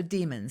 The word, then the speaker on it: daemon: email address okay so demons let's talk about demons I first of all the spelling is da e M o n so it's not like demon pronounce the same way but as I said